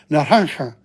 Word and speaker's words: naranja: Naranja. It's the J is not pronounced. It's like pronounced like H.